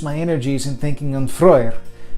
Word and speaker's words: Frey: energies and thinking on Frey, as most would pronounce it. The EY makes the oi sound in Old Norse.